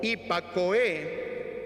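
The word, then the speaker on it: ὑπακοή: Pronuncia algo así como hipakoe, que está asociado con escuchar con respeto y atención.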